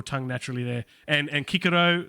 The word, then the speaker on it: Cicero: naturally there and and kikiro is for cicero uh caesar is kaiser